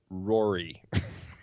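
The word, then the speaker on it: Ruairi: the way uh it's it's pronounced Rory it's just spelled in the I guess the gaic Irish uh spelling so it looks very confusing but it's it's just simp simply Rory I prefer my pronunciation once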